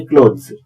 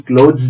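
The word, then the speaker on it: cloth: नहीं किया जाता जैसे क्लोथ सिले सिलाए तैयार वस्त्रों को अंग्रेजी में क्लोथ कहते हैं सी एल ओ टी एच का उच्चारण क्लोथ नहीं है क्लॉथ है उसमें थ आता है परंतु क्लोथ में द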